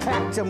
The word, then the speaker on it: Clacton: And in the little parlour where the ladies sit and chat, we've got Clacton with the accent on the clack.